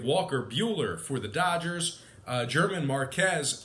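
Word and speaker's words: Germán Márquez: We have Walker Buehler for the Dodgers, German Marquez for the Rockies, or Herman Marcus, as their radio announcer would pronounce it as.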